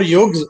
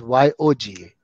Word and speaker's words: yoga: There is Y-U-G-A and this is Y-O-G-A. Yuga and yoga.